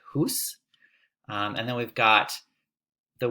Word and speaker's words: hous: Here we have the word house, but we'd pronounce it hus.